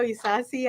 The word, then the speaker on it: Isasi: name so we get it right is is sassy and doesn't matter how you pronounce it he's okay oh yes we embrace